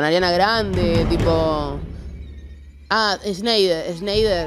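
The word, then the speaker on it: Schneider: Grande tipo Ah sneider sneider es así se pronuncia dan dan sneider Ah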